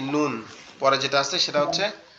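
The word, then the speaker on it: نون: আমাদের জিহ্বার আগা উপরের তালুর সাথে লাগবে। লাম এবং নুন জিহ্বার আগা উপরের তালুর সঙ্গে নুন লাগবে, লেগে আওয়াজ হবে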